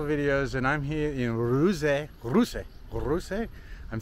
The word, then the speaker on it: Ruse: Eric Clark's travel videos and I'm here in uruze I'm saying it right now I asked a